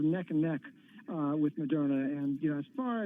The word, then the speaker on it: Moderna: called moderna so now i know how to say this company's name by the way if everyone's listening yep moderna that's right what's this you're putting an extra r in there man you're doing it maybe